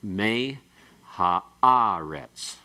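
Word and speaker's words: מֵהָאָרֶץ: So it's like me ha'aretz. Okay? And the accent, the main accent, still on the ah, not on the me. It's a secondary accent.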